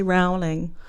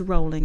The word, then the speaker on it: Rowling: a lot of people say rowling. Oh. It's rolling. Talking about Rhymes with bowling.